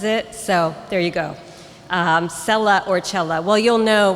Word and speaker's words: cella: c e ll a I'm guessing it's pronounced either sella or chela so anybody raise your hand and also shout because I can't see you if you're familiar with this row there we go hi how is it pronounced chela okay thanks I was